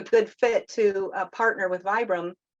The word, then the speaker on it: Vibram: fit to partner with Vibram sometimes people pronounce it vibrom it's either way is right um but there's only